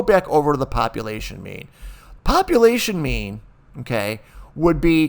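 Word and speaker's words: μ: It's mu, mu, but it's pronounced me. Me, or sometimes I'll say mu or mu too, but it's actually pronounced M-E-E, me.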